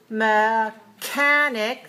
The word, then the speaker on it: mechanic: the letter K so watch the difference between mechanic 3 to stress on the second syllable and mechanism mechanism for one the second syllable is not stressed the first syllable is stressed so watch the K